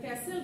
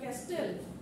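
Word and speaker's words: castle: শব্দের সঠিক উচ্চারণ যেটা ক্যাসেল না ক্যাস্টেল আর হলো আর হলো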